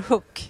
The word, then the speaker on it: Höök: name is called Hook is also fine uh I work very difficult to pronounce its names yes I know so so Professor Hook is fine yeah so I work